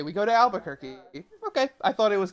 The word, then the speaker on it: Albuquerque: I mean, Albuquerque is a little bit hard to say, I guess. Albuquerque. Now we know. Albuquerque. So, if you're wondering where we go from here and how to say it, it's Albuquerque. Albuquerque.